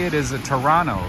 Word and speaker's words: Toronto: Oh, apparently the right way to say it, the right way to say it is a Toronto, right? You guys don't pronounce the T.